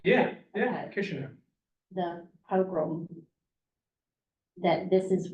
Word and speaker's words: Kishinev: Kishinev.